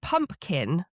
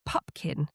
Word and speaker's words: Pupkin: puppet, which I thought the audio was saying pumpkin, but it's actually pupkin.